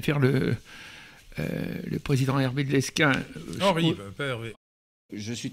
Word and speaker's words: Lesquen: De Lesquen, on prononce de Lesquen.